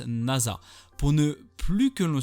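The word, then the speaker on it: 星空: Yuzaki, un collégien studieux s'écrit avec le kanji de nuit étoilée. Mais il se prononce Nasa.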